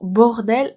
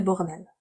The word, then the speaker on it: bordel: Alors, plein, bord et bourg. Cette syllabe, la première syllabe, c'est bord. Bord. Le deuxième mot commence par bourg. Pourquoi bourg? Parce que au U, en français, ça fait ou, tout simplement. On prononce bou. Bourg, d'elle. La seule différence entre ces deux mots, c'est qu'ici vous avez bord et ici bourg. Ça change tout.